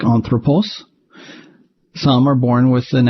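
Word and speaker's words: ἄνθρωπος: Some non-verbs are born with an accent on their antepenult, like anthropos.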